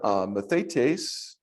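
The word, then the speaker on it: μαθητής: Then we have mathetes, and that's a disciple.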